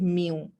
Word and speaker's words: mu: is what we what we we call it mu m u you can say this is we call it uh pronounce it with mu sine so this is